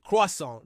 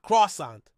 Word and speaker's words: croissant: And when words are borrowed from another language, we often keep their original pronunciation. That's why we say croissant, not croissant.